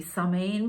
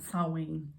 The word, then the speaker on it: Samhain: okay because i would i always want to see some in but it's not sowing something like that sounds like there's a w in it i've probably got that